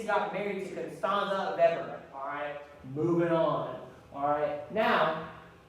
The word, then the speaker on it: Weber: Weber, but when it's a German name, you pronounce the W's as a V. So it's Weber.